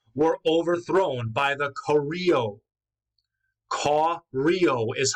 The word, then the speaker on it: Koryo: Koryo is how you pronounce it, so it's clear where Korea will get its name.